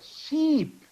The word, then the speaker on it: sheep: okay you see I pronounce here ship I pronounced here this one is here sheep he was a sheep farmer in Australia about